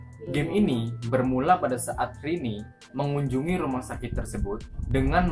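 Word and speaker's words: Rene: Karakter utama di dalam game ini adalah seorang gadis yang bernama Rini. Gimana sih pronounce-nya? R-E-N-E, bacanya Rini kan, bener kan?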